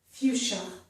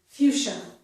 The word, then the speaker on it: fuchsia: This first one is pronounced fuchsia. Notice it also has the letter C-H, which can also make the sh sound. This word has one sh sound, so I've chosen S-I-A to make that sound fuchsia.